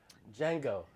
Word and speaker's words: Django: alien mutated frogs to django the d is silent the most fun films